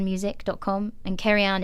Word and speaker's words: Cerian: online my website is carry on music calm and carry on is spelt because we said it's Welsh it's CER ia n carry on and all my social